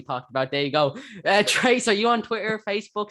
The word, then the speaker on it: Tres: Trace, are you on Twitter, Facebook, social media? I am, yeah. It's so my name is spelled Tres, and then it's just Trace writes stuff on pretty much every social media platform.